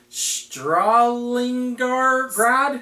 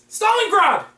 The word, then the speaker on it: Stalingrad: and I believe this was from 1971 called Stalingrad? Stalingrad? Stalingrad! That! Yes! See, that's why you don't have me pronounce things.